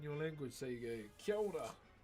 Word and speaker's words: kia ora: So you go, kia ora. Kia ora.